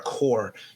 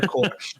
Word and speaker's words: Corps: They're core. I was trying to pronounce the P without pronouncing the P, but I pronounced the P.